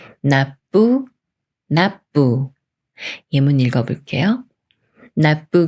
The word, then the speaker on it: 납부: 말이 와서 납부가 되는데요 이렇게 비읍 받침이 초성 비읍 만나면 쌍비읍 소리인 뿌로 바뀌면서 나 뿌라 읽어요 나부 나부 예문 읽어 볼게요